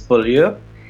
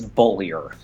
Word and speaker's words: Beaulier: My last name, if you want to be French, is Beaulier, and if you want to be American, like me, it's Beaulier.